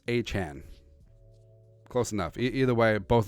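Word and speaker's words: Achane: So he changed the pronunciation of his name. Now it's Achan.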